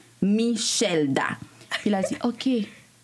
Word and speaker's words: Michelda: Comment il l'avait prononcé? Michelada, ou Michelda, quelque chose comme ça. Puis j'étais comme... Je l'ai regardé là, dit... Quoi? On était en live. Oh my God. Puis j'étais comme... Perdón, no me llamo Michelda. J'étais comme... Oh no. ¿Y cuál es tu nombre? ¿Cómo se pronuncia? Michelda.